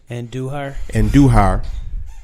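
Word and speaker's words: Andújar: So it's Miguel, how you pronounce the last name? Andujar.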